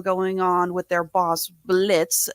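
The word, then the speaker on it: Blitzø: on with their Boss Blitz the O is silent and his relationship with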